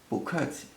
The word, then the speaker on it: 不: So 谢谢, 不客气. Also, just as a little side tip, you hear me pronouncing the 不 as a second tone in this case, because